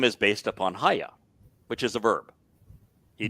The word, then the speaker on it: Haya: And so you can look up Haya and you say, all right, Haya has the Yod, the Hey, and Hey, a Yod, and a Hey. Yeah. And it's pronounced Haya.